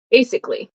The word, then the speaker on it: basically: is from Mony basic we usually don't pronounce the a basically basically basically I'm trying to think if people ever pronounce the a I don't think so but basically yeah